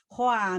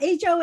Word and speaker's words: Hoa: So that's why it's not HOA, it's not Ho, but it's Hoa. I tell people it's spelled like, it sounds like moi in French, and this is Hoa.